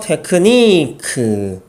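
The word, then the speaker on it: technique: 라는 의미의 어머니입니다 자 첫 번째 단을 보시면요 테크 니 큰 자 추요 이지만 발음은 크 으 로 발음을 한다 그래서 테이큰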